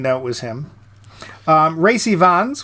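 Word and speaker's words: Rhys Ifans: it was him um Ry Vons which is exactly how it says it's pronounced on uh Wikipedia uh he plays Spike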